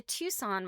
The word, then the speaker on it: Tucson: type Tucson, I'm like, I know that is not how Tucson is spelled. There's some silent letter in there.